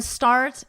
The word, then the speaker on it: start: And then start and cart rhyme.